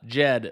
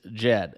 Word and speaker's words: Djed: get down into it you can see uh Jed right so very subtle D in the beginning as I was once corrected on the pronunciation of this stable coin okay so this is